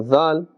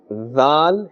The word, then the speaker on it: ذ: Now Dhal is pronounced from the top of the tongue and the inner edge of the upper teeth.